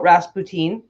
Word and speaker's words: Rasputin: first fun fact about rasp poutine so he sounds like it sounds like poutine okay okay Jamie Kelly